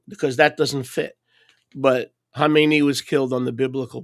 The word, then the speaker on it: Khamenei: They say Khomeini. That's not Khomeini. Khomeini is the guy that he succeeded. Okay, it's Khamenei. Americans see a K and they go Khomeini.